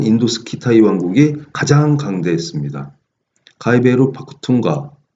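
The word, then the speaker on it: Pakhtunkhwa: 지금 현재도 그 아프가니스탄 남부하고 파키스탄 지역에 사는 파슈툰족이 가장 큰 민족인데, 이 파쿠툰가, 여기는 근데 H 발음이 있습니다. 파쿠툰가도 될 수 있고 파쿠훈가도 될 수 있습니다.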